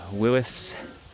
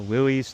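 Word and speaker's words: Willys: 1950 Willis or Willies, depending how you pronounce it.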